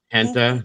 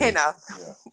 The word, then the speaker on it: henna: Henta? No, it looks like real tattoos, I think. Henna.